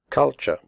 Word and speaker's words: culture: the first U is pronounced like the U in but, and the last syllable is pronounced ch.